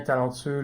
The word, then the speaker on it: talentueux: Au masculin, talentueux, le X est muet, tandis qu'au féminin, talentueuse, le S se prononce comme un Z.